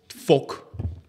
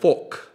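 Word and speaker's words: fok: I guess folk.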